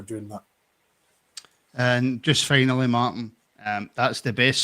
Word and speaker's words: Martin: Nobody's ever pronounced the T in my name. It's Martin, right? It's just Martin. The T doesn't get pronounced.